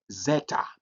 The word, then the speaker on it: zeta: But we also have the next letter is that zeta.